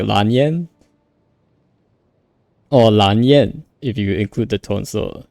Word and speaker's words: Lan Yan: She also says like Lan with a bit of an R sound, like in Japanese. So it's Ranyan. But in the Chinese, it's actually, if you like ignore the tones, ignore the tones for a bit. It's Lan Yan. That's how it's called, similar to how Yanfei is pronounced.